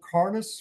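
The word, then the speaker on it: Cairns: Northeast part of Australia a little bit below carnice where a lot of people go to do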